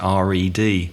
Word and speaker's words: read: read read read so the pronunciation is like it's re d but the spending is different it's like the color red I read a newspaper